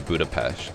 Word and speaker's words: Budapest: apparently they were from Budapest Budapest which I think is pronounced budapes they were so [